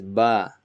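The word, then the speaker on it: ب: Ba is like your English B, boy. So it's similar. It just Ba is pronounced from the tip of your lips. So when both of your lips meet, that's where the Ba is coming from.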